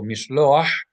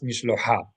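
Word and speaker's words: משלוח: But because we have a het here, and het is guttural, then we know that the vowel should be pronounced first and then the guttural letter, not followed by a vowel. Simply vowel, guttural letter. Ah, and not ha. So mishloach and not mishlocha.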